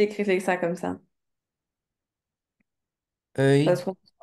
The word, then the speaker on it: œil: O E I L. Attention, sinon ça fait un oil oil.